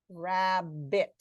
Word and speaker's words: rabbit: Here we have a scenario where we see 2 medial consonants, but we hear 1 medial sound. Rabbit. Why do you suppose we've spelled this with 2 B's? What's going on with those 2 B's if they're not both pronounced? Kara, Yep. the first B is causing that syllable to be closed and making the vowel short.